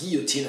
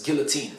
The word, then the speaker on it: guillotine: word because of course it's borrowed from the French but in borrowing it from the French the English have changed its pronunciation because English people don't